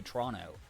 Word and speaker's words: Toronto: It's if you pronounce the second T, you've never spent any time in that city outside of like flying through the airport, you know?